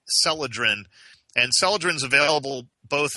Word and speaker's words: Celadrin: relievers is um called celadrin I'll spell it because it it sounds different than it's spelled it's c is and Charly e l a d r i n celadrin and celadrin is available